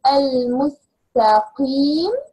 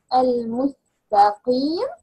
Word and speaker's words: المستقيم: There's a difference between ka and ka. When you pronounce the word al-mustaqim, al-mustaqim, okay? We can say al-mustaqi. He is wrong, right?